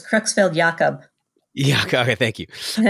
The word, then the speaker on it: Creutzfeldt-Jakob: So like how long of a period of time does somebody sit with something like, you know, is it Creutzfeldt-Jacobson? Is that how you say it? Close. Creutzfeldt-Jacob.